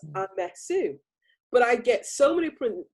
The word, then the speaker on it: Amesu: The emphasis for everyone's benefit is on the F. It's Amesu.